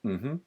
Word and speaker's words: Mmhmm: Mainly the name, which is the first reason, which is called Mmhmm, and that's actually how you pronounce it.